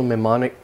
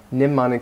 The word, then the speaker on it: mnemonic: to talk about a spatial mimic mnemonic system I should say mnemonic this is a more common pronunciation mnemonic system for giving talks